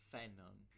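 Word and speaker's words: Phainon: The name is pronounced Phenon. Characters in the game call him Phenon, but it's an actual Greek name. Finan. It comes from the verb Fanon. pheno, which means to shine. Fanon.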